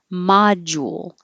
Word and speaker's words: module: changes to a d module the jewel when you're rounding your lips and then unrounding for the l it can make a ool jewel so you can make it a little more exaggerated module or a little shorter